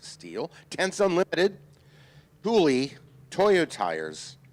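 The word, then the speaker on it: Stihl: SEDA, Steel Power Equipment, that's ST I L pronounced Steel, Tense Unlimited, Hulie, Toyot Tires, VP Racing Fuels, The Whiteart, and Women in Motorsports North America.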